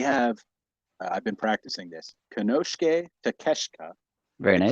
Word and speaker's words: Konosuke Takeshita: We have, I've been practicing this, Konosuke Takeshita. Very nice. Takeshita, I said it right.